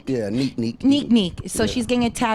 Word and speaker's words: Zonique: Zonique? Yeah, neek.